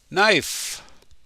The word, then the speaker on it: knife: and fork like this the k is silent knife she always eats her